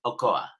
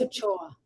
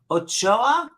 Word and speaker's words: Ochoa: annabelle lopez and i want to say it's pronounced ocoa am i correct annabelle no saying no okay hold on annabelle i tried some water how do you pronounce it annabelle lopez ochoa ochoa right because your call would be italiano ochoa